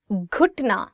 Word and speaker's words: گھٹنا: گھٹنا. So it is gaf and you're adding it with he, and it becomes gh, gh.